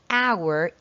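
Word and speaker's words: hour: very important for example the H at the beginning of our is silent so that's why you need to put N and you have to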